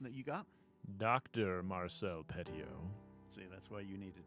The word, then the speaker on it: Petiot: Because I listened to some guys talk about on it on YouTube, and they dropped the silent T at the end. So Marcel Petiot. I'm going to go Petiot on that.